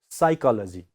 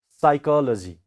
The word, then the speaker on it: psychology: So pa sound is silent here. We don't pronounce pa, only psychology. Okay, psychology.